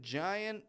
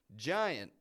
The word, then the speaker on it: giant: magawa is an African giant pouched rat an African giant pouched rat okay an African giant pouch Strat giant notice I'm not making a strong tea on giant I'm making a stop tea Giant and what does